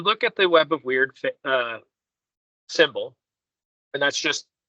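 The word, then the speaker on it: Wyrd: um I believe it's called the web of weird did I say it right yes uh most people call it the web of weird the proper translate or proper pronunciation is word uh we web of word okay well because it it seems to have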